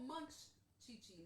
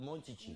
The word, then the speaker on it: Monchichi: It's called Munchichi, not Okay, Mun. but the way Hispanics pronounced it back in the Monchichi. 80s was Monchichi.